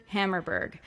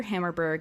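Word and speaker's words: Hammarberg: go support peter hammerberg his last name is spelled hammer but with an r h a m m a r b e r g so think about like a hammer but if it was a pirate like r hammerberg yep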